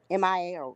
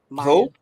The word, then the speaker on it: Maya: it comes to JayZ Maya Maya Mia yeah that's how you say her name Maya the English rapper came